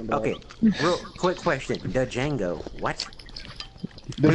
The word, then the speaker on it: Django: The Django. What? The But D that's is a Django, the D is Oh, the D is silent, but- silent.